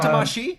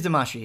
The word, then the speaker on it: Damacy: I believe it is Damacy, yeah. It's like Buscemi and Well, Damacy. it's a weird thing because Yes. it's spelled Damacy, but there's not actually like that sound in Japanese.